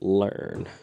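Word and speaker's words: Lurn: name him um learn spelled l-u-r-n but pronounced learn okay you know i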